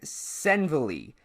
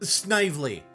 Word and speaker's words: Snively: Emmeline Senville, director of the Blue Book Modeling Agency, counseling would-be model Marilyn Monroe, 1944. Snively.